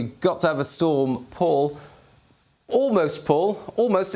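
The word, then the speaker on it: Pól: moment ago we got to have a storm paul almost paul almost it's not quite spelt the same as your name but paul uh therefore p uh that's how you pronounce it paul that's this year's p name uh how do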